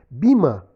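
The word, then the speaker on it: Böhme: Bima, se escreve B-O com trema H-M-E.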